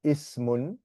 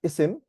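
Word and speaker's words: اسم: Okay, you can spell it in English ISM, for example, ismun, or sometimes it's pronounced isim.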